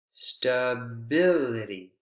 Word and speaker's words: stability: cury osity possibility creativity stability so for stability it's a little different it's the second syllable but that's because it has less syllables than the others very similar pattern to